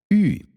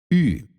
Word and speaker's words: Ü: Ü. For French speakers, it should be easy, right? Ü. In English, you would compare it to you, or U, but you try to say E with your lips rounded.